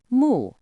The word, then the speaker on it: 目: In ancient oracle bone script, there was a symbol pronounced mu.